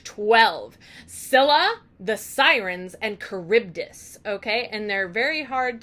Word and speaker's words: Charybdis: you so we got the sirens we've got charybdis and we've got Silla now I'm not going